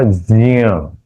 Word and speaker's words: ज्ञ: Actually उसका उच्चारण होगा ज्ञ आधा और आधा न्य ये अनुनासिक और त्र त और र इनका मिलाकर के त्र होता है।